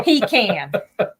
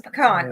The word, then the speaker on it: pecan: of crappy it is it is not a peac can is a pecan oo yeah yes yes